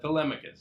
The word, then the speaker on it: Telemachus: Telemachus.